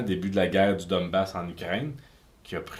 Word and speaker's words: Donbass: prononcé. Non, le Donbass, c'est ça.